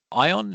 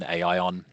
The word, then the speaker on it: ION: As I say, um, before I continue, we don't mind how you say it. Um, you can pronounce it any way you like. You'll probably hear me say a few different ways today. Ion, Aion, etc., depending on what I want to emphasize.